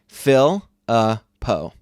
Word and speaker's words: Philippou: I put it into Google Translate, and I had it say it, and then I did the Philippou.